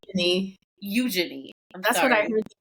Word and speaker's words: Eugenie: But there are two other royal siblings that are getting a little bit of, shine right now, and that's Princess Eugenie and Princess Beatrice of York.